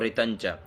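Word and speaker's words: ऋतञ्च: ओम ऋतंच सत्ययचा ऋत आधा न और च तो ऋतंच ऐसे ही सत्य भीधा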